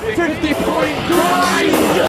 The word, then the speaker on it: 50.Grind: They actually pronounce the point, it's like they've just been told their band name by text message. And we're 50.Grind!